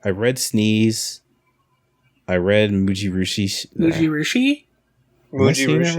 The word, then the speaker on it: Mujirushi: I read Mujirushi. Mujirushi? Mujirushi? Right? Yeah, you said it right. Yeah, Mujirushi.